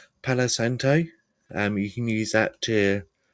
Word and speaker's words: Palo Santo: Palo Santo.